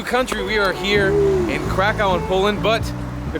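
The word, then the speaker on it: Kraków: to a new country we are here in Krakow in Poland but the correct pronunciation which I just learned approaches Krakoff Cove I've traveled my friend Steve that's me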